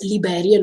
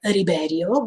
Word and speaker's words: Liberio: but usually in Japanese, when they put R as a sound at the beginning, is L. That means is Liberio in this case, if I'm not wrong, because many times even with Levi, usually they were saying at the beginning Rivi with the R, even if it was L. So that's why I think it's Liberio, not Riberio, but, but Japanese people